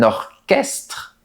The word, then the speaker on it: orchestre: Mais on dit un orchestre et un psychologue. Oui, c'est comme ça. Il faut apprendre la prononciation par cœur.